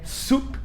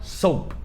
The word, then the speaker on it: soup: Palavra número 12 é sopa em inglês, parece que é simples, mas muita gente confunde, que é soup, soup, e muita gente fala soap.